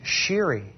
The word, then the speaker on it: Shiri: easier to say the Taco Bell girl than sheeri which is so difficult I'm so thankful that